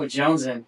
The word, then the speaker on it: Jonezen: No, Jonezen. See, I want to pronounce the Z.